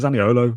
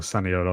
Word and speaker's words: Zaniolo: Talk about Zaniolo very briefly. Obviously came on for his debut. something about Nicolozaniolo, isn't there? Or Saniolo, I think is the correct pronunciation.